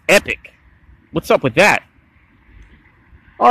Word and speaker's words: Epoch: gashapon figures from epoch it looks like he'd pronounce it epoch but i think technically it's just pronounced epic what's up with that